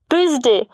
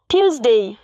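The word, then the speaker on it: Tuesday: উচ্চারণ হচ্ছে মানডে আমরা অনেকেই ইংরেজিতে মঙ্গলবারকে বলি টুসডে কিন্তু এর সঠিক উচ্চারণ হচ্ছে টিউসডে আমরা অনেকেই বুধবারকে ইংরেজিতে বলি ওয়েটনেসডে কিন্তু এর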